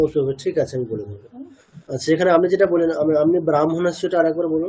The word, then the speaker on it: ব্রাহ্মণ: এই হয় ম এর ক্ষেত্রে ব্যতিক্রম। আগে ম বলতে হবে। স্পেলিং আগে হ আছে। আচ্ছা। কিন্তু আমাকে উচ্চারণ করতে হবে আগে ম তারপরে হ।